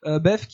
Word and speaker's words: Bethke: Et ces nouvelles ont été écrites par Bruce Bethke, si on prononce à l'anglaise. Bethke, il raconte en fait dans cette série de nouvelles qui s'intitule Cyberpunk les péripéties d'adolescents hackers.